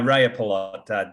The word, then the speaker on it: Rajapalot: Rajapalot. Yeah, Rajapalot. J's are spelled pronounced like Y's, so Rajapalot.